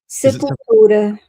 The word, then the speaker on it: Sepultura: sure I spent my teenage years calling them Sepultura or something. And it's like, there's so many interviews where people say, "How do you pronounce?" Do you know Viviane? How do you pronounce their name? Sepultura.